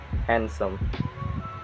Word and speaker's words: handsome: So yeah, it can be silent too, like this example: Wednesday, sandwich, and handsome. You can, so like I'm not pronouncing like sandwich, it's sandwich.